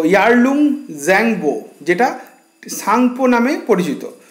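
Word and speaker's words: Tsangpo: তো দেখুন, আমাদের বসু মৌলিকের ভূগোল বইতে লেখা আছে, ব্রহ্মপুত্র নদীটি তিব্বতের মানস সরোবরের নিকটবর্তী চোমায়ুংদুং হিমবাহ থেকে সাংপো নামে, এটা টিটা এখানে সাইলেন্ট, এই যে এখানটা লেখা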